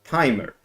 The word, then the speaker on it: tmr: other is called timer it's an acronym tmr but it is pronounced as timer so a brief overview